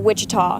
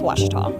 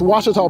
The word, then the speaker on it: Ouachita: Back in Texas, everybody pronounces it Wichita, but really, it's Ouachita. Ouachita. Ouachita. How would you pronounce it? Ouachita. Ouachita. It's Ouachita Baptist University. Get it right. It's Ouachita, people.